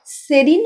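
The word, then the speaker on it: serene: নেই তাই শান্ত আর সেরিন মানে হল সেরিন বা সিরিন দুটোই উচ্চারণ হবে সেরিনও হবে সিরিনও হবে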